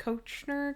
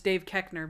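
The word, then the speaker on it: Koechner: on david kekner's name i didn't know how to pronounce it i was like coachner call corner oh yeah but i should have known it's dave kechner because i listen to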